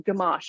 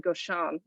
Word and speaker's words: Gamache: you can you tell I've forgotten Gamache I almost said goshan Ah that's a different